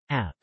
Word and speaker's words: áp: App.